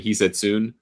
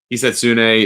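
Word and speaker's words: Hisatsune: Rio heetsune who I've been saying heetsoon. Never heard the name pronounced and they they made a nice emphasis of it on the PJ tour broadcast this weekend. So going to make sure I say it right.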